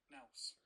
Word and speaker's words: nous: Oh, nous, even. I was saying it wrong. I just thought I'd check how to say it, and I say it wrong. Nous. Nous, says Google.